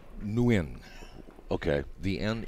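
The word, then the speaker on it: Nguyen: and win yeah yeah it's pronounced new in okay the end it's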